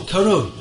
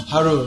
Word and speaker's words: Harur: So, what's it? Karur? Harur, you pronounce it.